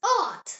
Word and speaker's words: Ort: O pronounced O. Like the O in the English word more. The example word is Ort.